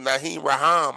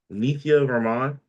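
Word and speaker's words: Nithya Raman: by 18 points, but against her, I think Nahm Rahim, I can't if I'm saying her name wrong, I apologize. I'll look it up. Uh Na Raman. Say it again. Nia Raman.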